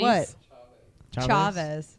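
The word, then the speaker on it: Chávez: says it's Chavez Oh No how do you pronounce it correctly chaves chaves chaves chaves Cesar Chavez ha ha only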